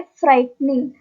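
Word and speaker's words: frightening: गई ठीक नेक्स्ट है फ्राइटनिंग फ्राइटनिंग फ्राइटनिंग में भी सेम केस है कि इसमें भी जो जी एच की साउंड होती है वो साइलेंट होती है इसलिए हम बोलते इस फ्राइट निंग फ्राइट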